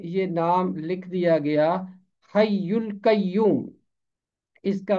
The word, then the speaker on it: حی القیوم: اردو ترجمے میں یہ نام لکھ دیا گیا، حی القیوم۔ اس کا تلفظ ہے حی القیوم، حی القیوم، یہ ہے